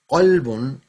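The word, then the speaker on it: قلب: Kalbun is a dog. Qalbun is a heart.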